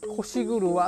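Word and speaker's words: 腰車: これはね、腰車って読むんです。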